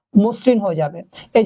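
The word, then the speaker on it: মসৃণ: করতে হবে তাহলে শব্দটা হয়ে যাবে বলেন তো মসরিন হয়ে যাবে এই যে মসরিন উচ্চারণের বেলায় দন্তন্য সবসময় ব্যবহার করবেন তখন মুদ্যান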